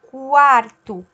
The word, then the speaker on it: quarto: Mesma coisa com o Q e o U, quando ele tem o A junto. Também tem o U pronunciado. Quarto, qual. Eu escuto esse U, eu falo ele, né?